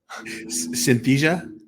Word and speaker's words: Synthesia: I've used are are that word I can't pronounce that you just said how do you say it Synthesia yep there we go that one um chat